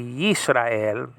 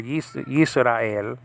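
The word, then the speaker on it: יִשְׂרָאֵל: But it's really Yisrael, and that's just a deal. So three syllables there, Yisrael.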